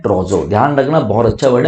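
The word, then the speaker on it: trousseau: ट्रोजो मतलब क्या होता है, ट्रोजो इज करेक्ट प्रोनाउंसिएशन इज ट्रोजो।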